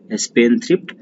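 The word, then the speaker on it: spendthrift: नाउ स्पेंडथ्रिफ्ट, स्पेंडथ्रिफ्ट में D silent होता है, डी को हम नहीं पढ़ते हैं, तो हो जाएगा स्पेन और फिर थ्रिफ्ट, स्पेंडथ्रिफ्ट, खर्चीला, खर्चीला कहते हैं इसे।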